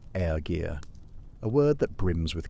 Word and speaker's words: ergi: The most cutting thing a man could be called wasn't coward or traitor, but something closer to ergir, pronounced ergir, a word that brims with contempt.